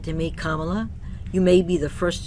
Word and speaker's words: Kamala: This is what she says, quote, "Before we get started, my name is pronounced Kamala, like the punctuation mark.